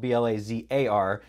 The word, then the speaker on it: Blazar: to have a conversation with my guest, Brad Blazar. Brad, welcome to the show. Thank you so much, Roland. It's great to be here. And so I pronounce everything right. It's your name is spelled B-L-A-Z-A-R, but it is pronounced Blazar.